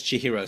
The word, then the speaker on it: Chihiro: my first name is chir C hi i h i r o I always tell people Chi like Cheerios hero like Superman is how you pronounce it and my last name